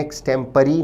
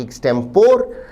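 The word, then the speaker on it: extempore: का उच्चारण नोट करें शब्द का ब्रिटिश उच्चारण है एक्सपी ना कि एक्टेंपोर एक्टम परी का अर्थ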